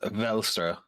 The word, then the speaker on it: Welstra: Because Welstra is technically supposed to be pronounced Velstra.